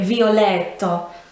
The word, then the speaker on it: violetto: which is violet so you can hear in the way that i say it violetto this is where the emphasis lies i suppose even if